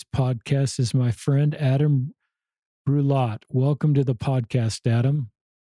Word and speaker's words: Brulotte: So it's a French last name, and so it's pronounced Brulotte in French. So Adam Brulotte. But if in English, it's fine, Adam Brulotte.